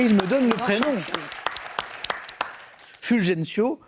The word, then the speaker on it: Fulgencio: Fulgencio, Fulrencio, si on voulait le prononcer de façon locale, Batista.